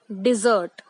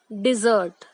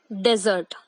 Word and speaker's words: dessert: तो इस वर्ड को हम बोलते हैं डिजर्ट। I repeat, डिजर्ट। Many people mispronounce it as desert, but that is the another word.